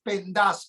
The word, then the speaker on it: Pendas: Te recuerdo que siempre es Pendas con acento en la A.